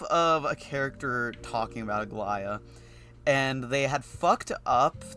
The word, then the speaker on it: Aglaya: The thing is, this is still how you would pronounce it, right? They say like the way it's written, you would still pronounce it the same. However, they had someone who did not know that that can be pronounced that way read it. No. And so it was like Aglija. Aglija. Because technically speaking, the J would still be a ya.